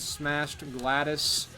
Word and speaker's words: Smashed Gladys: And the last vinyl record I picked up was Social Intercourse by the band Smashed Gladys. That is how it's pronounced.